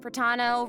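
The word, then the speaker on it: Protano: And hosting with me today, we have Hey everyone, I'm Cat Pratano, rhymes with Capitano, the voice of child's master Skirk.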